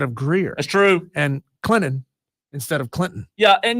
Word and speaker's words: Clinton: quick on that like nobody enunciates that that that tea in Clinton nobody says hey guys we're going to Clinton tonight I don't know why